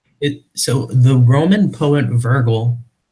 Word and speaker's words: Virgil: actually interesting so it so the Roman poet Virgil Virgil that's it thank you I don't pronounce names the correct Weiland sorry so the